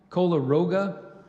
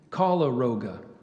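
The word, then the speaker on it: koleroga: to the Eureka Palm Cola Roga has been known to affect coffee and citrus trees in tropical and subtropical climates I gave you the pronunciation of cola Roga there's one alternate kala Roga c-o-l-o-r-o-g-a coleroga Cola Roga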